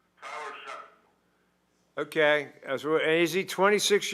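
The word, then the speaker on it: Shough: How do you pronounce his name? Tyler Shuck.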